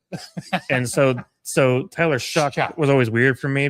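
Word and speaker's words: Shough: So the main concern is quarterback ability from Tyler Show. Hey, that's the best quarterback out of that draft. And Tyler Show, Chuck. My apologies. You're right. Tyler Shuck.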